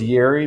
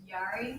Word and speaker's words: Yari: I'm pretty sure you go as Yeri, but. It's Yari.